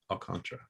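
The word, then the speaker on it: Alcántara: going to say sandy alcantara alcantara i've tried i'm trying to get better on that pronunciation it's there's a little hint of that that third a a in there at the end but if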